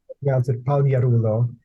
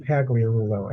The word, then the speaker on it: Pagliarulo: your name is it well the true pronunciation the G really is silent so proun Ito but the states it's always pronounced pagle Rulo and either you know